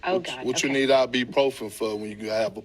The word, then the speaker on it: ibuprofen: people don't really pronounce the U in it, but it is IBU and then profin. So it's properly pronounced ibuprofen, but nobody says it that way.